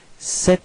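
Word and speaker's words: cet: set all right so you pronounce it like set ordinator a share okay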